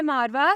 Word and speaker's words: Maarwa: नाम है मारवा, स्पेलिंग है MAARWA।